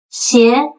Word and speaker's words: 鞋: That's because the word of shoes, 鞋, is pronounced the same way as 邪, evil, which carries sinister or cursed vibe.